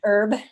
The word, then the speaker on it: herb: Herb, you don't pronounce it like the name.